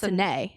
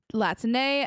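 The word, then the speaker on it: Latané: There's an accent on the E, so I think it's Latine.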